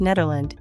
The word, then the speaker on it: Nederland: The official Dutch name of the Netherlands is pronounced Nederland.